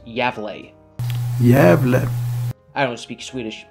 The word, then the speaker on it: Gävle: going to refer to the town as a gavel even though apparently it's pronounced yeah bleh yeah I don't speak Swedish but whatever the